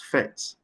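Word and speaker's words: PhET: here is fet interactive simulation pronounced as fet and is located at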